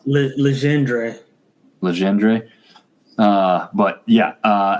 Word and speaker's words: Legendre: So, it looks like almost like legendary, but that's not how Legendre.